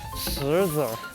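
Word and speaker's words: 石子儿: 石子儿。石子儿。是子儿发音啊。子儿啊，不是石头发音啊。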